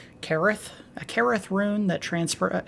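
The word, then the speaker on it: Caryll: carol roon we say carol but apparently this is a form of welsh and it's supposed to be pronounced careth a careth rune that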